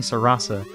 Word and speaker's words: Sarasa: happens now I had no idea how to say the name so I looked it up and apparently Sarasa is the porch the porch the Portuguese name saying the Portuguese name